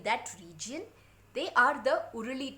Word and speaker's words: Uruli: region they are the uruli tribes uh u r u l i r o o r ali however you want to pronounce it now these people were